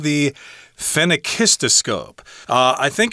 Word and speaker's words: phenakistoscope: In fact, I spent a couple of minutes even trying to find the pronunciation online. Mm. And I finally found a YouTube video that explained it. So, phenakistoscope.